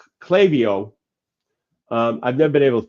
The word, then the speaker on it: Klaviyo: For marketing, they plugged in a tool called Klaviyo. I've never been able to pronounce that. A couple of my clients have that tool, and of course I can't pronounce it right. But it's Klaviyo, and it automated the email campaigns.